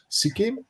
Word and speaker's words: Sikkim: skywalk uh in uh sikhim is not a pronouncer sikkim yes uh it's one of the states here